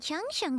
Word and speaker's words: Changsheng: Oh, must be a rare condition if not even Baizhu and Changsheng have seen it before.